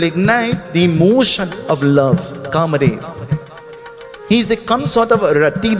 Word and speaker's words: Kamadeva: Kamadeva, he's the god of? No, you don't say it like that. Kamadeva, he's the god of love.